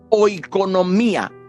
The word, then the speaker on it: oikonomía: La palabra economía procede de una raíz griega que se llama oikonomía. Se escribe con O, I, K de kilómetro, ONOMIA, oikonomía, que significa los administradores de una economía, dispensadores de la familia.